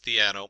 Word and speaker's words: Theano: And it is Theano. There's a lot of pronunciations, Theano and different things.